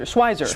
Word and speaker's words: Schweitzer: No, you said it rhymes with Budweiser. Schweizer.